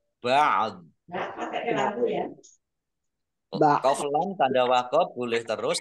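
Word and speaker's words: بعض: Nah ini ba'd. Ini ada ainnya sukun, do-nya juga dibaca sukun karena wakof, maka membacanya antara ain dan do. Ba'd.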